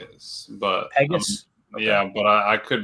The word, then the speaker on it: Pegues: Then, of course, Pegues, I guess is how you said it. J. Cole said Pegas. Pegas.